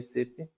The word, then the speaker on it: SAP: So we need to pronounce it as SAP, not SAP.